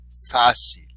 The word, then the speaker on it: fácil: So even though it ends in a vowel, we're not going to say the second to last syllable. We're going to do it where the exception to the rule is.